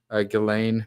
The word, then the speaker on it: Ghislaine: Okay, that's how we're going to pronounce it. Ghislaine Maxwell. Good to know. Well, this is why I learn things. Ghislaine Maxwell.